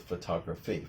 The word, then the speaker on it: photography: And the same problem is with photography.